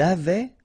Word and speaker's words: avait: Okay, so j'avais, final S not pronounced, tu avais, final S not pronounced, il avait, final T not pronounced, elle avait.